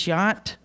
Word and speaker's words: Jant: Our next scholarship recipient is Alexis Jant. That's the Swedish way to pronounce her last name.